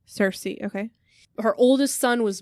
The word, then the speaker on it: Cersei: Cersei. Cersei, okay.